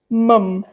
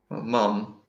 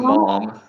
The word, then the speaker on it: mum: one is M um mum yes I think even the pronunciation is also a good friend mum mum it's not mom yeah how do they